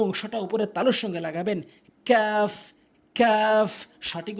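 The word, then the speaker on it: كاف: জিহ্বার গোড়া হতে একটু আগে বাড়াবেন, তারপরে ওই অংশটা উপরের তালুর সঙ্গে লাগাবেন, কাফ কাফ সঠিক উচ্চারণ, কাফ।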